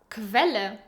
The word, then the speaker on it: Quelle: And Q, U is actually pronounced as Kv most of the times. I know, this one is actually really funny. For example, Quelle, Sauce, Quittung, Receipt, Qualität, Quality.